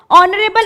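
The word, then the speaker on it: honorable: ऑनरेबल O से start हो रहा है, where H is silent in all these sentences.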